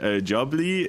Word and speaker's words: jubbly: What is a jobly? Jubbly is is like it rhymes with lovely kind of lovely jubbly.